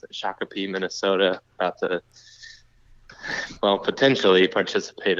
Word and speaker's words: Shakopee: But I'm pacing the halls of I think it's a Baymont Inn in Shakopee is how you pronounce it. Shakopee, Minnesota, about to, potentially participate in this Deer and Turkey Expo here.